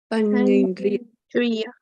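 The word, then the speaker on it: paññindriya: Panyendriya. Panyendriya. Yeah. Panyendriya. Right. So like my name here, Panya, right? Panya. So Panyendriya, Panya and Indriya.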